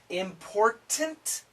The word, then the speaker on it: important: Because important important important things. Important things. Glottle. Stop. No T. Important things. Important things. The t combines with the th.